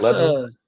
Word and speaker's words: Lebanon: How they're pronounced. Is that right? Lebanon?